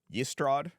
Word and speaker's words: Ystrad: Well, this one is YSTRAD. Yestrad.